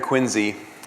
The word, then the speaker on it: Quincy: It's great to be here in Quincy. That is, by the way, spelled with a Z, Q-U-I-N-Z-Y, if you're ever asked about that.